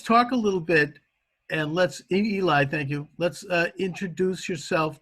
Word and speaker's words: Eli: And we pronounce it Eli.